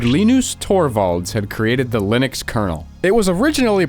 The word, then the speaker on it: Linux: a man named Linus Torvalds had created the Linux kernel it was originally pronounced as Linux like his name hello this